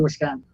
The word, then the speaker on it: Wisconsin: the word dude Jude second letter in Wisconsin whis so whiz you never say an I like an e you gotta remember we